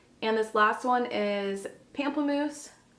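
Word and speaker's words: Pamplemousse: this last one is pampam moose or pom moose is actually probably how it's pronounced um the highlighters this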